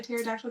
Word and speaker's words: pterodactyl: her, and I was like, "Why can't you hear a pterodactyl going to the bathroom?" She's like, "Why?" I was like, "Because the P is silent."